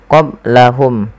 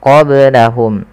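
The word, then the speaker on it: قبلهم: Kemudian qablahum ada ba sukun maka dibaca dengan qalqalah. Kesalahan yang terjadi adalah tidak memantulkannya. Contoh qablahum, tapi dia harus dipantulkan qablahum.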